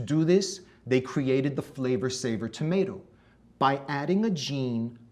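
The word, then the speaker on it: Flavr Savr: It was called the Flavor Saver tomato. That's spelled F-L-A-V-R-S-A-V-R, Flavor Saver.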